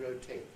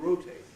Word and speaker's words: rotate: Words like, now if you use the British versions, frustrate, locate, migrate, and rotate. Lots of others too. The Americans will regularly pronounce those frustrate, locate, migrate, and rotate.